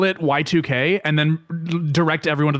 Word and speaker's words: YIIK: He would call it Y2K and then direct everyone to the Steam page.